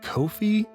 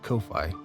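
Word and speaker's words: Ko-fi: channel further remember you can look into my Kofi which I recently was disappointed to learn it's actually pronounced Kofi but as I hate that I will continue to call it Kofi where you can sign up for a membership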